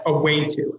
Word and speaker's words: Awâto: our name is pronounced a Wayne - as in a way to better career pathways and we're based in